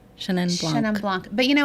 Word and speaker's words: Chenin Blanc: How do I pronounce it? Chenin Blanc. Chenin Blanc.